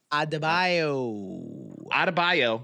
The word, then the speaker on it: Adebayo: So Tyler Herro and Bam, how do you pronounce it? Adebayo? Adebayo.